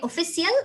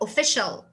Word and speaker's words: official: facilitate everything for you this rule it says that if i have a word and in this word i have uh after the c i then i will pronounce c and i in this situation i will pronounce them as sha so instead of saying